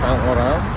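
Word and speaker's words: Saint-Laurent: Tulisannya Saint Laurent, dibacanya Saint Laurent.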